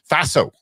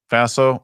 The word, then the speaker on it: Faso: Faso. It rhymes with lasso. Faso, Lasso, Ted Lasso.